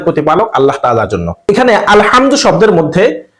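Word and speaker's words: الحمد: এখানে আলহামদু শব্দের মধ্যে হা রয়েছে। এই হাটিকে কণ্ঠনালীর একেবারে মধ্যখান থেকে প্রেসার দিয়ে উচ্চারণ করতে হয়, হা।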